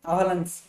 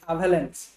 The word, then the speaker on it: avalanche: reaction बुझे कौन कहते आवालांस सॉरी ये प्रोनाउंसिएशन टिके गड़बड़ होची अवेलेंस AVALANCHE अवेलेंस chain reaction हबो जा